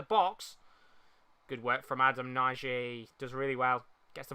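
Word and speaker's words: Nagy: good work from adam naiji does really well gets the ball back or noise as they're pronouncing him i think that's probably the best way to pronounce him as portugal get the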